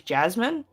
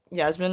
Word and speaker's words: Yasmin: Like, I don't have a name that's hard to pronounce, but people would assume my name is Jasmine, like, cause my name in person is like Yasmin and stuff, and yeah, frequently get called Jasmine.